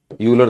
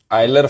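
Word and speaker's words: Euler: यूलर theorem, आयलर theorem बोलते हैं इसको। चलो तुम्हारी थ्योरम ही शुरू करा दें। ठीक है, चलो भाई। तुम्हारी यूलर, यूलर आयलर फॉर्मूला होता है थ्योरम।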